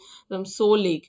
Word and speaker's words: Tso: সো হচ্ছে কি TSO থাকবে, TSO মানে কিন্তু তোসো টাইপের নয়, ঠিক আছে। TSO কিন্তু সো উচ্চারণ হয়, যেমন সুনামির যেমন টি থাকলেও তু সুনামি উচ্চারণ হয় না, সো লেক।